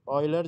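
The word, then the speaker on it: Euler: ये भी ऑयलर जो थे, इनको ऑयलर प्रोनाउंस किया जाता है, ठीक है।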